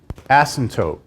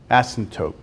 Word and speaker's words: asymptotes: weird word in mathematics asymptotes horizontal asymptotes it's like the P is silent it's a weird word asymptotes the passim tope assam